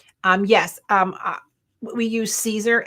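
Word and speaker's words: Siser: yes um we use Caesar s i s e r it's pronounced Caesar and um they have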